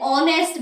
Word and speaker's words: honest: He is an honest man. Honest की spelling H से start होती है, लेकिन एच उसमें साइलेंट होता है.